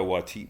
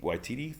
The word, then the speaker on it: Waititi: in the know um taika wati waititi that's how you say it of course um he's